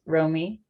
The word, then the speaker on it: Romy: yeah so hi everyone my name's romy um that's how you pronounce it and i'm a third